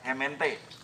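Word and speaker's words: gemeente: Arab tuh ko jadi paralel W paralel Kak hement tulisnya kan gemente ya tapi pelpalnya kemente Cirebon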